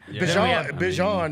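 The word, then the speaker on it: Bijan: Bjon, you know, you got to pronounce his name right now. He said his name is Bjon, not Bjon.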